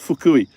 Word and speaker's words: Fukui: My friend lives in It's pronounced fukui.